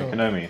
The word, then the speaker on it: Konami: Yeah, Konami. That's the way we pronounce it.